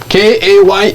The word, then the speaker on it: Kaye: K-A-Y-E. Yeah. So Then some people will pronounce Kaya. No? Hey, yeah, Kaye. Kaye.